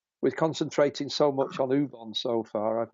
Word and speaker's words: Ubon: Ubon is UBON. Yeah. Lovely. Yeah. Ubon. Ubon. Ubon. Pronounce it properly. Yeah. No, I can say in the Welsh way, Ubon.